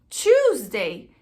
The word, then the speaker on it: Tuesday: Tuesday, ele tem um som de 2, Tuesday.